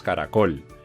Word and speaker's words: caracol: ejemplo la palabra caracol tú dices caracol y como dices caracol col es la sílaba tónica porque le estás dando la mayor fuerza en la última sílaba vale tenías tres sílabas